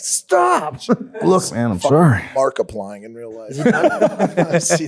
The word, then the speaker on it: Markiplier: I thought it was like Mark Eye Pliers. Yeah, Markiplier. Markiplier.